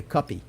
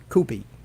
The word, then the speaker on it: Coopy: and if it's otherwise, I'm going to keep calling you Cuppy, because that's how you pronounce cup, CUP. So if it's Coopy, phonetically found Coopy. All right, it is officially, guys, Coopy, Coopy, and it's like Tommaso Sullivan.